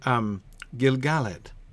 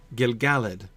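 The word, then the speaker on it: Gil-galad: Gilgalad, right? Gilgalad is an intrinsically iambic feel as well. If you put the stress on that middle syllable.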